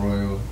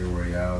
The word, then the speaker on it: Royal: I am Royal. Some people say Royale because it's spelled that way, but you know, whatever.